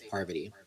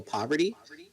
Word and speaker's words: Parvati: And I think it's more of like she could just say no, it's Parvati. And if people are still gonna be like, oh, poverty, then they're just being assholes.